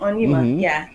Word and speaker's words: Onyema: And so tomorrow, you're going to be having Pastor Evelyn Onyema. Did I pronounce that right? Yes, you're correct. Onyema, Yes, we're going to be having her, and she has a phenomenal story to share.